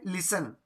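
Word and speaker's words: listen: फिर 11 वाला है, 11 में लिसन यानी सुनना, इसमें भी जो है टी साइलेंट है लिसन में भी।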